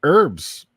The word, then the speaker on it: herb: right Jeff let's talk herbs or herbs how do you say it herbs or herbs I think I just say herbs I believe that the H is silent right yeah I think it's